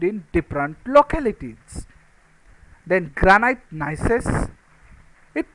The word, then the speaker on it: gneiss: Then granite gneiss, it pronounced like nice, but in that G is silent, so it is nice.